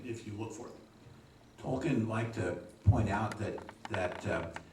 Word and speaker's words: Tolkien: What is the correct way to pronounce his last name? It's Tolken correctly, but well, I was brought up saying Tolken.